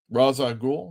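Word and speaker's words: Ra's al Ghul: Raza Ghoul rhymes with cool.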